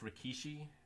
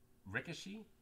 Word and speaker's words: Rikishi: I wonder if Rikishi... So, yeah. I assume you mean the wrestler started in sumo first. So, yeah, I think it's pronounced Rikishi. But at WWE, F and E always pronounced it Rikishi.